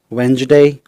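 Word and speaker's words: Wednesday: कुछ वर्ड्स में D silent रहते हैं। जैसे budget, bridge, वेंजडे, sandwich, handsome, grudge, Dodge.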